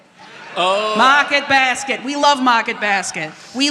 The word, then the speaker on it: Market Basket: There are co like colored tiles on the floor and it's pronounced mocket basket. Oh, mocket basket.